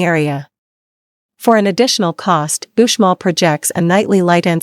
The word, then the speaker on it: Uxmal: Pronounced Uxmal, Uxmal's size and uniqueness make it a fascinating stop for ruin lovers and novices alike.